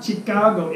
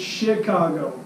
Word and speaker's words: Chicago: says Chicago Chicago Chicago it's not chikage it's Chicago it's not spelled with an SH it's spelled with a CA it's Chicago and I was corrected